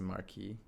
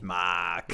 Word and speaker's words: marque: Maybe it's a marquee. Marquis That's kind of how I would de pronounce that.